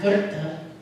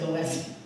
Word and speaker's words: Goethe: There's a quote, and I did have to Google how to pronounce his last name for any Germans in the room, by Johann Wolfgang von Goethe. I would have said Goethe.